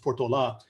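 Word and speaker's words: Portolá: when the spanish expedition led by gaspar de portola and that's how it's pronounced portola came through the area in 1769 they crossed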